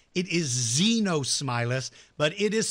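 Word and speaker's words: Xenosmilus: X Z no smiler is pronounced with the Z not an X so it's not Exynos Milas it is Z no smile us but it is spelled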